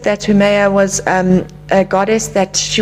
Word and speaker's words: Haumea: It's pronounced Haumea.